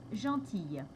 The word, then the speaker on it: gentille: le L au féminin la prononciation est ye comme dans fille par exemple donc gentil gentille ensuite il y a